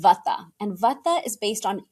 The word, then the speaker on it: Vata: And either you are Vata, Pitta, or Kapha, like you said, and in the West we pronounce them Vata, Pitta, and Kapha.